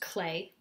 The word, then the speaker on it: Klee: although born in Switzerland Paul clay pronounced clay as I've been saying mmm-hm inherited his father's